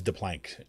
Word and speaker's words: DePlank: Okay, it is DePlank. Shireen said. She gave me the pronunciation.